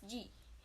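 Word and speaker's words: じ: Actually, shi with dakuten is pronounced as ji.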